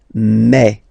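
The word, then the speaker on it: mes: So for the phonetical or pronunciation aspect of it, then remember that this uh s here combined will give you the sound e. Okay. So you'll pronounce it like me. Me.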